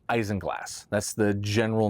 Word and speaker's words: isinglass: It's spelled Isinglass, but it's pronounced Isinglass.